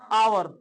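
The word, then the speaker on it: hour: ना जैसे अगला देखिए एच ओ यू आर क्या है आवर और आवर ठीक है ना घंटा होता है देखने में एच लगा है आप बोले कंसोनेंट है तो कंसोनेंट है लेकिन इसको बोलने में आव आ आता है तो आ क्या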